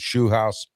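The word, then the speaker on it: Scheelhaase: They got Nate Shu House, the former I finally pronounced his name right, the former game coordinator for the Rams and possible Steeler head coaching candidate.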